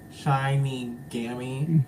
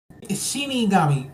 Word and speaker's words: Shinigami: I can't pronounce the name. Shiny Gammy. Mhm. Shinigami. Okay. I was close though.